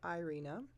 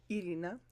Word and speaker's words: Irina: And if people are not native English speakers, they speak a language where it's easier to roll their R's, then I prefer that they call me Irina, which is the original way it's pronounced. Irina.